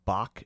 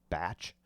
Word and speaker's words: Bach: It looks like it says Bach Shit Crazy, B-A-C-H, but I think it's probably actually pronounced Batch Shit Crazy.